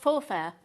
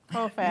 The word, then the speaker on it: faux fur: Oh, faux fur. Don't you say it like that? Faux fur. You didn't say it like that earlier.